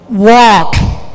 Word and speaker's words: walk: Ini walk. Yang berikutnya talk. Ininya cough. Tidak ada bunyi L.